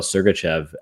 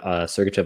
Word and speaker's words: Sergachev: the trade for Mikhail Sergachev. And Tourné responded to, I believe it was Brogan Houston with the Deseret News saying, well, it rhymes with pucking right.